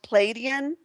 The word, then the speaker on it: Pleiadian: had a connection with pleiadian and it but it's pronounced palladian yeah pleiadian you can kind of drag it out a little bit of depends on this